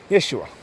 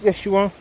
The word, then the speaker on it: Yeshua: of the lord then is pronounced as yeshua you know basically that's the pronunciation now that's not the one we use you sure there's another pronunciation but yes you are is the pronunciation basically